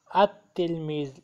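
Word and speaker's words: التلميذ: अल अल तलमीज, अत्तिलमीज़, लाम is silent here, अत्तिलमीज़।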